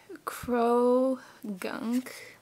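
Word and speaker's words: Croagunk: So we've got a Krogunk. That's how you pronounce it.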